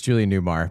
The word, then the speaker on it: Julie Newmar: And I mispronounced it. It's Julie Newmar, but I'm going to keep that in.